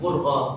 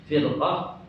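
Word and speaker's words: فرقة: Bacanya bukan furqah. Kalau furqah perpecahan, kalau firqah artinya golongan atau kelompok.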